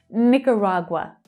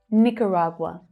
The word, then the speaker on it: Nicaragua: Nicaragua. Nicaragua. Which is quite different from the way that Nicaraguans actually pronounce their country name.